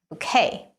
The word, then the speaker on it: bouquet: This word has a French origin. Do you know how to say it? You should say bouquet.